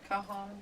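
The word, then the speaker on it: cajón: pronounced as an H, like.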